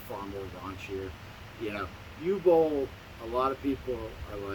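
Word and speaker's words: Uwe Boll: You tell me how to pronounce it, because I say U-Bowl.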